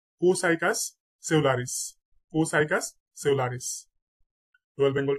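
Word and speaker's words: Copsychus: বৈজ্ঞানিক নাম হচ্ছে এখানে পি এর উচ্চারণটা সাইলেন্ট থাকবে এটা হবে কোসাইকাস কোসাইকাস পি এর উচ্চারণটা হবে না কোসাইকাস সেলারিস কোসাইকাস সেলারিস রয়েল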